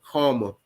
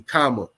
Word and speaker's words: Kama: Like mine is almost spelled like karma, but it's actually Kama.